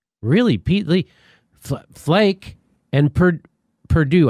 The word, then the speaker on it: Perdue: Lee, really, Pete Lee, Flake, and Perdue, I think it's supposed to be, not Perude.